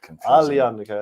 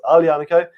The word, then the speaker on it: Aglianico: We have our Aglianico. You have what? Aglianico is what it looks like. It's Aglianico. You say AG as a UH. Aglianico.